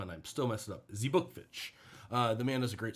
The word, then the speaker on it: Zbukvic: Zbukvic.